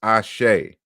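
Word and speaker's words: Àṣẹ: that's right here in in the europa language you pronounce this ashay ashay is the staff of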